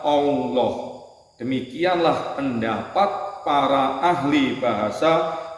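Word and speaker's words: الله: Hamzahnya dihilangkan untuk mempermudah membacanya. Lalu huruf lam yang pertama diidhamkan pada lam yang kedua sehingga menjadi satu lam yang ditasdid. Lam atau lalu lam yang kedua dibaca tebal sehingga dibaca Allah.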